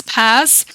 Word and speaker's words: PaaS: So platform as a service popularly known as P A or pronounced as PAS they provide an environment for the building testing and deploying of software application without focusing on managing underlining infrastructure.